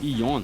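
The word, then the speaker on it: よん: noite pois em japonês uma das formas de falar o número quatro yon tem a pronúncia igual a ideograma de morte que é xim é tipo o número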